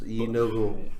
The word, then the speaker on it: Gnoll: Yeah, it's Unigul.